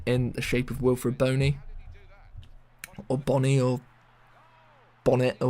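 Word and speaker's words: Bony: But surely if it was Bonnie, it would be B-O-N-N-Y or B-O-N-N-I-E. Maybe it's just me being pedantic, but it's Boney. So yeah, Wilfred Boney, £14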